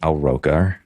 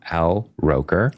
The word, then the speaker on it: Al Roker: that was really cool I got to meet aloka America why did I say it like that Al Roker Al roer Al roer America's weatherman and America's